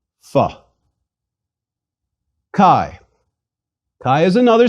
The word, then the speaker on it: phi: life is too short most students of ancient Greek pronounce the Phi like the F sound at the beginning of philosophy please repeat Phi Phi Chi Chi is another